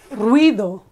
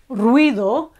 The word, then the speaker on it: ruido: does okay another example noise is ruido ruido it's rui rui one syllable and then do another one ruido okay another example